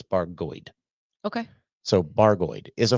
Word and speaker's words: Bargoed: heard people say that it's supposed to be pronounced barod but he says it's baroid okay so baroid is a former mining town